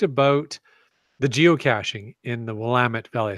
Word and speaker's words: Willamette: so we've talked about the geocaching in the lament belly I said it right that time yes